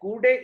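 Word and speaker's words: coudé: Coude is a French word and pronunciation is coude.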